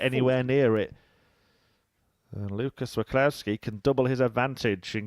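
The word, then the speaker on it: Wacławski: If you want some inside information as well, the reason that I'm pronouncing the name Waclawski is because I asked Owen Binks how to pronounce it.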